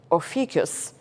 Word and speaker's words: Ophiuchus: The decans of Scorpion, the serpent struggling with, I got to say his name right, Ophiuchus.